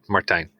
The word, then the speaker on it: Martijn: I accept any form of my name, but it's the proper pronunciation is Martijn.